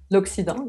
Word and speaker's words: Occident: L'Occident, yes.